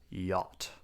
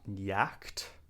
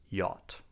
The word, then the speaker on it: yacht: You can have a small yacht, you can have a big yacht, but most importantly, we pronounce it like yacht. Not yacht, but yacht.